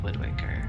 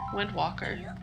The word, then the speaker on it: Wind Waker: Legend of Zelda Windwaker. Yes. Walker or Waker? Waker. Did I spell it wrong? Waker. I thought it was Walker. Windwalker. No, Windwaker. Because you're waking up the winds.